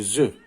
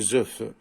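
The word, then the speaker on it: œufs: كنديروا لا مارك ديال البلوريال كنزيدو اس ولكن ما كنطقوش دي زوف. يعني ممكن نعرفوا واش بلوريال ولا سينغوليي غير من النطق. الا قلت لك زو سيتادير لي زو يعني جمع ولا قلت لك اف سيتادير ان نوف. ما يمكنش نقراو هادو ان نوف لي زوف هذه ما كتقراش لك زوف كتقرا لي زو.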